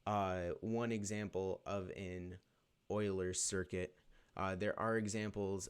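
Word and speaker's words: Euler: back over uh lines but that's what an Oiler circuit is when it comes down to it a lot of people when they first see it they announce it a rulers circuit it's pronounced Oilers um it's kind of a weird spelling um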